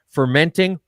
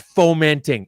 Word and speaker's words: fomenting: Glenn Giebert, fermenting or fomenting? Dude, it's fomenting. It's fomenting. And you've got me and Glenn foaming at the mouth every time you say fermenting.